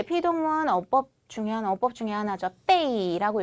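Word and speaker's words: 被: 빼이라고 읽죠. 빼이 사성으로 읽고요.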